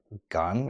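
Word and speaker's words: 건: Um it's written in English as uh I believe it's keo n or k o e n. Um but in Korean it's actually pronounced gun or gun.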